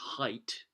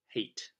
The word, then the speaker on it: Haidt: And by the way, apologies for this, but actually it's Haidt, not hate. That's the pronunciation I've just discovered now. So just bear that in mind when pronouncing the author's name.